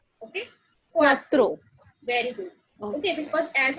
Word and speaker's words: cuatro: Okay, because as I told you, the pronunciation of CU is U, right? So CU को हम U pronounce करेंगे and A की अपनी sound होती है, that is A, and then throw again cuatro.